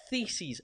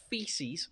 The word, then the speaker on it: theses: It's theses, not feces, right?